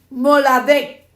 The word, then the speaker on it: moladet: La palabra cumplir en el idioma original del hebreo es moladet. Moladet. M-O-L-A. Como un acento en la A.